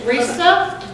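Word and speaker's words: Rise: My name is Risa, and you may have seen it printed. In print, it's spelled R-I-S-E, with dots over the E, which is a Swedish name, named after an opera singer.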